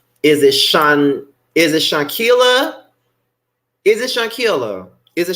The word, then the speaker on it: Shanquella: Okay, so it's Shanquella.